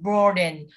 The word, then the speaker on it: broaden: Vậy thì các bạn nhớ từ này không đọc là broaden nhé, nó là o dài, đọc là broaden.